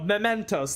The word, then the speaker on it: Mementos: e n t o s there we go mementos that's the one he did what I did but backwards um yeah we're gonna be starting off with some mementos we got a ton of